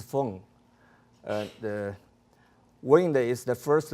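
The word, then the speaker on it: 风: Wind in Chinese pronunciation is feng.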